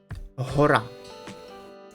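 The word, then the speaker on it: гора: to the English H but you must put strength in your voice and pronounce it like he. Okay? Let's train. He. Like in the word hora. Hora, which means mountain.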